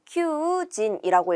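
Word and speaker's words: 求人: 그러니까 구인이라는 뜻이고 큐진이라고 읽어요. 이때 사람 인자도 명사로 읽을 때, 음독으로 읽을 때 진 또는 닌 이렇게 두 가지 발음이 있는데 구인 광고 할 때 구인은 큐진이라고 해서 진으로 읽은 것을 체크해 주셔야겠죠. 그래서 정답은 4번이 됩니다.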